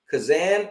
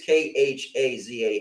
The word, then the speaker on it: Khazan: Kazan. I think it's an H in there. I think it's Khazan.